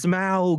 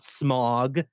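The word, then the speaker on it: Smaug: it's tolken not tolken it's smow not smog I'm a Midwestern boy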